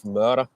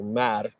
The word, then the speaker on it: Møre: So he sends the sons of a friend of his, the sons of the Jarl of Møre, or Mær, as it's for some reason translated to in English. Møre is spelled M-Ø-A-E.